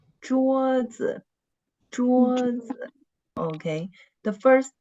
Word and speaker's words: 桌子: And the neutral tone is always on the second syllable of the word. And the first syllable is the word stress.